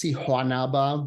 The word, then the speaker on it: Siguanaba: research on the Siguanaba, which can be spelled with an H or a G. It's Siguanaba, but I think in South American Spanish, that's an H sound.